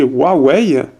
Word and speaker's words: Huawei: de premium on a Huawei ici donc il faut bien le prononcer Huawei c'est W ouais voilà c'est pour